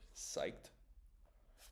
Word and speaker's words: psyched: Psyched. This is Oh, this is 18. 18. Psyched. Psyched is is excited, you know. So, I was psyched, but the pronunciation can be tricky. Similar to psychology.